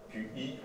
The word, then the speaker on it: Qi: Le Qi, QI, on prononce Qi, qui a donné également dans l'aspect japonais le Ki.